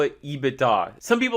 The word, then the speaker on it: EBITDA: what this measure is is called ebitda it's pronounced ebitda ebitda don't call it ebitda people think you're